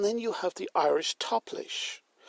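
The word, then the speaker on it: táiplis: And then you have the Irish Toplish. Toplish is T-A-I-P-L-I for the S approximately, which is the modern Irish word for draughts.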